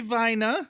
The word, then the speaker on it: Weiner: of german i know like i naturally want to pronounce it whiner and not weiner wouldn't be viner vina that's massive weiner of